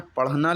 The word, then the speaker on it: पढ़ना: सही पढ़ना लिखना है, पढ़ना का स्पेलिंग जो होती है पा या ढ़ा लगता है, जिसमें हल्की सी हा की आवाज़ आ रही है, क्योंकि हम लोग पढ़ना नहीं लिखने हैं, पढ़ना नहीं बोलते हैं, पढ़ना।